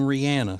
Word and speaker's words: Rihanna: Except her name's Rihanna. Everybody calls her Rihanna, and she pronounces her name Rihanna. So when somebody calls her Rihanna, like I call her Rihanna, then it sounds like I'm wrong because so many other people say it the wrong way.